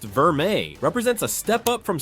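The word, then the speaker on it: vermeil: Gold Verale, pronounced Verme, represents a step up from standard gold plating, but still falls short of solid gold quality.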